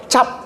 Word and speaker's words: tjap: Kalau C, TJ. Cap. TJAP. Cap bacanya.